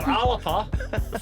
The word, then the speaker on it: Alba: (laughter) - It was Alba, or ‘Alpa’ for the correct pronunciation, cola made with Scottish wather Eh, Scottish wather?